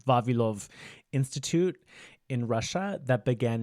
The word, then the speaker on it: Vavilov: So there's a place called the Vavilov, I had to say it like a Russian, Vavilov Institute in Russia that